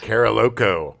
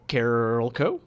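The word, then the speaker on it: Carolco: Co I think so I mean that's how I always pronounce it as a kid because I saw a lot but it's definitely Carol coach but I was just like karaoke uh Carol Co was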